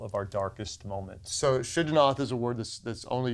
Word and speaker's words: Shigionoth: Shigionoth, yes.